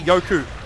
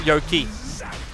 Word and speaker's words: Yoku: But yeah, you can correct me, but I believe it's actually Yoku, not Yoki. That's how it's meant to be pronounced in Russian.